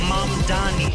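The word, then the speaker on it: Mamdani: And furthermore, the name is Manni.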